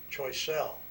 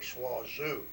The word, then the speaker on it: Choiseul: The 2nd Battalion of the paratroops went up and raided a little island of Choiseul, or Swazoo, whichever way you want to pronounce it, to make the Japanese think that we were going to invade Swazoo rather than Bougainville.